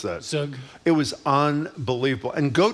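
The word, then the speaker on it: zhoug: How do you pronounce that? Sug.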